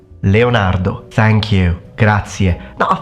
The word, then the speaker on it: Leonardo: of the four Leonardo yes repeat after me Leonardo Leonardo thank you gra now I think most of